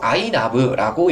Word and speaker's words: iNAV: 더 좋아요 inav는 이거를 원래는 이제 nav를 납으라고 읽거든요 그래서 이것도 아이나브라고 읽습니다 그래서이 아이나브는 10초마다 변동되는